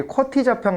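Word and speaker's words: QWERTY: 아마 크리터 있어서의 쿼티 즉 지금은 쿼티 라고 읽어 줘 어 그래 가지고 여기에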